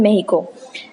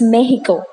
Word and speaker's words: Mexico: है, एक example they mentioned of China and मेक्सिको. पहली चीज मैं आपको बताना चाहती हूँ, MEXICO, इट्स नॉट मेक्सिको. जितने भी लोग इसको मेक्सिको प्रोनाउंस करते हैं वो गलत प्रोनाउंस करते हैं, इट्स मेहिको.